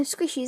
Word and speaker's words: Squisheys: You say it like Sassy, it's spelled right, Sassy. No, Squishies, it's like squish and then EYS.